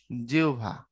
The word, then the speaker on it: জিহ্বা: ঠোঁট এবং এবং জিউবা এটার উচ্চারণ কিন্তু প্রকৃতপক্ষে জিউভা যদি আমরা জিহ্বা বলি বা জীব বলি তো বুঝে নিও বোঝার জন্য আমরা যেভাবে বলা সেভাবেই বলবো কিন্তু মূল উচ্চারণ জিউভা এরপরে আসো বাকপত্যঙ্গের সবথেকে